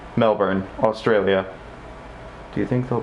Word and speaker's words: Melbourne: in Australia called Melbourne it looks like Mel born but the fact is it's pronounced Melbourne em e lb o u R and E Melbourne Australia do you think